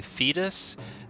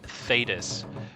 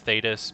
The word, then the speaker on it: Thedas: actually the cune and also I've been saying fetus and I think someone told me it's actually pronounced thedas so I'll be trying to pronounce it as thedas but if I don't say thedas and I say thetas it's just a bad habit that I I